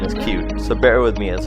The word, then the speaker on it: Qt: It's spelled Qt, but the official pronunciation is Qt, so bear with me as I'll use that.